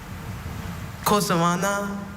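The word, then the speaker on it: cocillana: Cosalana. I'm sorry, Cosalana is spelled C-O-C-I-L-L-A-N-A.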